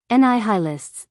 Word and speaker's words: nihilists: general's rank mess Nill how do you pronounce it ni High lists said arade distinctly quite so formerly we had heists and now they have become nihilists God send you health